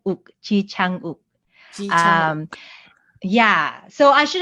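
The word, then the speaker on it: 창: But also I should mention that there is no hard A sound in the Korean language. So the second syllable is chang, like aha, chang, not chang like bang.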